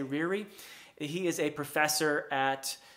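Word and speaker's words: Ryrie: i'm mispronouncing that name it's r y r i e rear i'm going to say riri he is a professor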